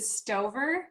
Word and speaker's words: Stover: Is it Stove? Yep. Okay. Nobody's ever Nobody's ever mispronounced.